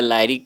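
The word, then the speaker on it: lyric: लिरिक कहते हैं, या इसको प्रोनाउंसिएशन या लिरिक कहिए या लायरिक कहिए।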